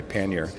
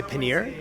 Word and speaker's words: pannier: How do you pronounce this word? Well, I'm an American, so I'm going to say pannier. Pannier. Some would say pannier. Others might say panier. Choose your poison.